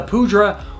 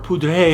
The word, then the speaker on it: Poudre: Now, the Poudre, or Poudre if you're French, there's all these arguments on how you pronounce it.